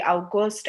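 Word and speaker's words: August: For example, জুলাইকে আমরা বলি ইউলি, জুনকে আমরা বলি ইউনি, বা অগস্টকে আমরা বলি আউগস্ট।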